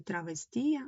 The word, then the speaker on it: травестія: У словах український урочистий травестія наголос падає на другий склад. Ні, на третій. Рахуємо. Травестія. 1 2 3. Третій склад.